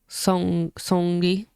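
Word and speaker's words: Seungri: I mean, this is the same thing that Songi, that's how you say his name, from Bang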